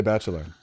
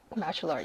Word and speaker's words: Bachelard: So you would just say Bachelor. Bachelard, yeah.